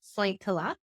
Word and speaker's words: Sointula: Yes, I grew up in a very small Finnish fishing village called Sointula, pronounced Sointila, off the northern coast of Vancouver Island.